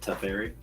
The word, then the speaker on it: Teferi: I think it's pronounced Teferi.